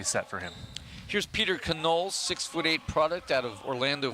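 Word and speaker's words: Connole: Here's Peter Canole, 6'8" product out of Orlando, Florida. First time he was in a lineup, I was pronouncing it Canole because I'm always hungry. It's spelled C-O-N-N-O-L-E.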